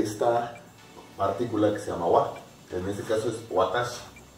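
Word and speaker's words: は: En este caso, la partícula wa se escribe con la misma mora de ja, pero cuando se utiliza como partícula se pronuncia wa, para indicar que lo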